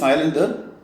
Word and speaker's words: coelom: എന്താണ് സീലോം? ഈ വാക്ക് പ്രൊണൗൺസ് ചെയ്യുമ്പോൾ സൂക്ഷിക്കുക, അതിൻ്റെ സ്പെല്ലിംഗ് മനസ്സിലായല്ലോ. ഓ is silent, it is pronounced as സീലോം. സീലോം എന്ന് പറഞ്ഞാൽ ഒരു ക്യാവിറ്റി എന്നാണ് അർത്ഥം.